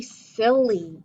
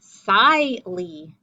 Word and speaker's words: silly: an l y so this would be psi lee that would be an open syllable two open syllables silly we don't say slightly we say sil close syllable with open syllable same thing with dizzy